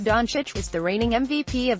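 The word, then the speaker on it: Dončić: not afford to botch donek pronounced Don Cheech was the reigning MVP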